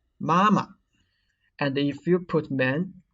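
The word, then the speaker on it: 妈妈: baba new york and what should be noted is that come on the second syllable of these three words should be neutral tone so do not read mama you should read mama and if you put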